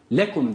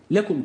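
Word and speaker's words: لكم: anlaşılmasın diye Ne yapıyoruz ikinci lamı telaffuz ederken hafif bir vurgu yapıyoruz yani şu lekum derken lekum kelimesinin lamı cale ile beraber değildir ayrıdır aynı olduğu için vurgu yapıyoruz vurgu yapmazsak şöyle olacak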